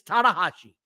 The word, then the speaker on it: Tanahashi: They said they're going to have a 3-on-3 at Forbidden Door, and Tanahashi is joining. Not Daddy Ass. It's Tanahashi, but another Japanese guy.